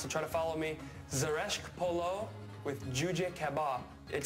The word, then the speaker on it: zereshk: Zeresh is how you pronounce it.